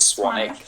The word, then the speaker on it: Swanwick: name is actually spelled Swan Wick but it's pronounced swanic um if you're interested in the blue light